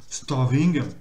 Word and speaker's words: starving: Starving. Donc, évidemment, vous prononcez très faiblement, très peu le R, voire même pas du tout.